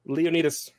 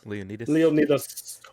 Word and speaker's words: Leonidas: No, it's not Nidus. You have to say it like the Greeks do. Leonidas. Leonidas.